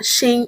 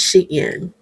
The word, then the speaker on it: Shein: It is not Shein, it's Shein.